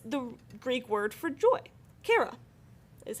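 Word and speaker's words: χαρά: Kara is how you say that, just kara, okay?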